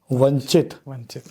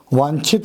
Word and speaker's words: वांछित: जब आज की कॉमन डे में हम इसे व्हाट्सएप पे टाइप करते हैं तो स्पेलिंग आई VANCHIT, वांछित, और पढ़ने वाले ने पढ़ा वंचित। वांछित का मतलब मुझे सब चाहिए और वंचित का मुझे सब चीज से दूर कर दो।